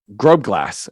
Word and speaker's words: Grobglas: Grobglas.